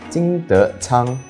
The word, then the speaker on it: 金徳昌: Kim Teck Cheong is pronounced as 金德昌 in Mandarin.